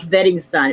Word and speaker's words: Beristain: It's pronounced Bettingstein. It's Spaniel. Okay.